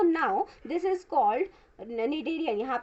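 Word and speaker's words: Schneiderian: Present होती है वो यहाँ पे एस जो है वो साइलेंट है। ओके, तो यहाँ पे निडेरियन मेम्ब्रेन प्रेजेंट होती है, कहाँ पे प्रेजेंट होती है, ऑल्फैक्टरी रीजन पे प्रेजेंट होती है।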